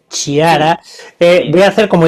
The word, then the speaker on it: Chiara: Bueno, quiera alguien que quiera contactar contigo, ya sé que tu web es difícil de porque como yo te estoy llamando Kiara, pero se escribe con Che. Sí, Chiara, voy a sí.